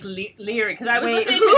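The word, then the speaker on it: Laoghaire: I think it's like Leary. It's Lahire. No, it's not. That's how she said they pronounced it. She said the Scots pronounced it Lahire. But she said L''HEER.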